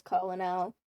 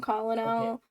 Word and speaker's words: colonel: read it as Colonel. I know it's Okay. not Okay. Colonel.